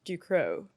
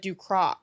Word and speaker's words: Ducrot: of just a dro the American wants me to say like du cro. No, it's not a, it's not that it's du or like Duco is what, what it would be, but like I'm not gonna go starting into annoy people being like, actually you have to roll your R in your throat and like, So du Crow.